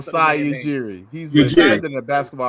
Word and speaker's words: Masai Ujiri: Masai Ujiri. That's what Masai Is that how you say it? I don't want to mess it Masai Ujiri.